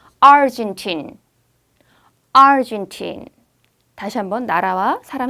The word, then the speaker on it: Argentine: 그런데 아르헨티나 사람, 아르헨티나 말할 때는 앞에 강하게 하는 Argentine.